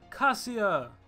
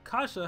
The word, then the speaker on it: Kassia: Today I'm going to be analyzing Kassia, or Kasha, however you want to pronounce her name. I think I like Kassia better.